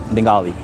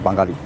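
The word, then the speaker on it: বাঙালি: So Bengali is a race Bengali if you say it in the English pronunciation but in my pronunciation is Banggali.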